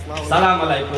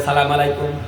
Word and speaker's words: আসসালামু আলাইকুম: আসসালামু আলাইকুম আসসালামু আলাইকুম অথচ এই মুসলমান নামাজের মধ্যে ইমাম সাবের সাথে সালাম ফিরায় আসসালামু আলাইকুম নামাজে আসসালামু আলাইকুম আসসালামু আলাইকুম এই মুসলমান প্রতিদিন পাঁচ ওয়াক্ত নামাজের মধ্যে সালাম উচ্চারণ শিখে স্বয়ং ইমাম সাহেবের সাথে জামাতে নামাজ পড়তে যাইয়া সালামের উচ্চারণটা শিখে ঠিক তারপরও রাস্তাঘাটে আইসা সে সালাম দেয় সালামু আলাইকুম এই মুসলমানের কি অবস্থা দেখেন মুসলমান শুদ্ধ করে সালাম দিতে জানে না অথচ দোকানপাটে মাসলা মাসায়েলের